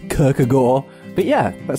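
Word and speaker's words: Kierkegaard: descartes epictetus sir and kirkegaard i believe it's pronounced Kirk a Gore but yeah that sounds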